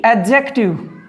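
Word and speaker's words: adjective: आगे देखिए, यदि एडजेक्टिव, इसमें मैं बोल रहा हूँ एडजेक्टिव, एडजेक्टिव नहीं बोल रहा, एडजेक्टिव डी साइलेंट है।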